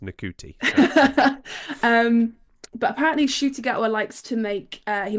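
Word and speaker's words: Ncuti Gatwa: I have rarely heard it aloud um it's shoy gwa yes that's how I've been pronouncing it um ever since I found out that it's not pronounced NTI um but apparently shy gwa likes to make uh he made a playlist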